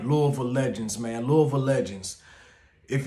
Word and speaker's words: Louisville: Anybody who you meet from Louisville, and if you ever meet somebody who says Louisville, you know they're not from Louisville. Everybody from Louisville pronounces it exactly how I'm saying it.